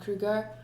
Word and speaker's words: Kruger: Krier, it's pronounced Krier though, not Kruger. In my language, in Afrikaans. In English, it's still pronounced Kruger, of course.